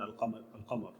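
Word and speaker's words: القمر: Al-Lam al-Qamariyya, we call it Qamariyya mainly because we pronounce Al-Lam in Al-Qamar, Al-Qamariyya.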